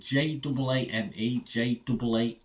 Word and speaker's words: Jaane Jaan: That's how you pronounce it, Jaane, Jaan.